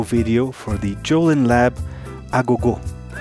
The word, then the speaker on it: Agogô: for the jolen lab ago i'm pronouncing it the way i pronounce it in my native portuguese from brazil because that word actually